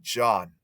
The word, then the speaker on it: John: John is pronounced like Sean. Okay, very close to John. Actually be John.